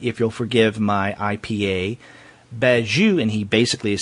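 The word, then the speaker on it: Bagieu: have heard episode 135 we pronounced uh B's name bagu so I know I was saying Penelope bagu but Matt was uh giving us his his vast knowledge of French pronunciation and and I appreciate that it is beu and you know Derek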